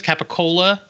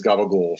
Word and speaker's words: capicola: I think the real name is capicola, but it's just like I worked in a deli in North Jersey for a while. Pronunciation is gabagool.